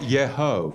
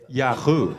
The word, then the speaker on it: Yahu: It's like not Yeho. Yeah, it's Yahoo.